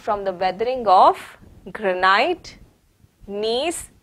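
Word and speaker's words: gneiss: the weathering of granite knees g is silent in the pronunciation of knees and other crystalline rocks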